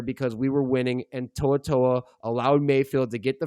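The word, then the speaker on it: To'oTo'o: Henry Henry Oh, Toaatoa, that's how you say it.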